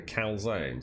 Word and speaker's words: calzone: A calzone. It's actually called a calzone.